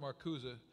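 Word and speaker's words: Marcuse: heard a man named Herbert maruza I know people say I mispronounce it that's all right i'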